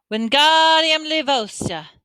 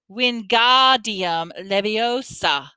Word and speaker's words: Wingardium Leviosa: Wingardium Leviosa, she said, waving his long arms like a windmill. You're saying it wrong, Harry heard Hermione snap. It's Wingardium Leviosa. Make the ga nice and long.